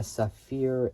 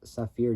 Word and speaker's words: Safir: uh difficulties so um a British company uh Safir engineering so this first name is spelled s a fiir so s a fi